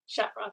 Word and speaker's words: Shafroth: Shafroth. Yes, Shafroth, that's correct.